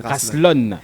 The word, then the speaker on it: Raslon: Là, je le disais en début d'entretien, mon cher Rasslon, c'est comme ça on prononce? Oui, Rasslon. Voilà.